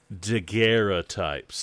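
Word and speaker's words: daguerreotype: to tell me that their called deera types the French pronunciation is it French deer deera types they came to us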